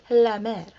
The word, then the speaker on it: La Mer: is super expensive and they pronounce it la mer la mariotta so when